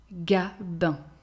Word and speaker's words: Gabin: Gabin.